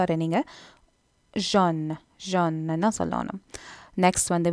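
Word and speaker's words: jaune: அடுத்தது கலர் மஞ்சள், அதை நீங்கள் ஜோன் தான் சொல்லணும். முதல் சொன்ன மாதிரி ஏயு ஃப்ரெஞ்சு சேரிக்க ஓ போலரான் இருக்கும், ஸோ அதை நீங்கள் ஜான் ஜான் என்ன சொல்லணும்.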